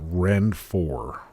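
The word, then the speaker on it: Ronfaure: They say it's pronounced Renfort, which, I mean, like, I guess if it's French, it kind of makes sense, but nobody's going to know what you're talking about if you say Renfort.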